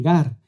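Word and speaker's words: γάρ: bien un vocablo griego conocido como Gar o pronunciado así Gar y lo muestra con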